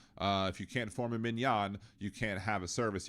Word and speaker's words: minyan: they were like, well, if we can't have a minyan, or a minyan, as we pronounce properly in Hebrew, a minyan would be